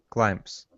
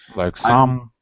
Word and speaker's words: climb: rights wies limes brights climbs very good excellent and remember this B is silent climb yeah I'm climbing the